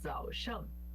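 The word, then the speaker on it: 早上: Esse shang por si só, ele é pronunciado com o segundo tom, que é o tom de pergunta, né? Shang. Só que ele tá junto com, aqui no zao e no wan, junto com o terceiro tom. Quando ele pega o terceiro tom e junta com o segundo vira o quarto tom.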